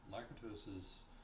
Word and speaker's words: Lakatos: A research program, in Lakatos's sense, a research program is a sequence of problems placed in order of priority.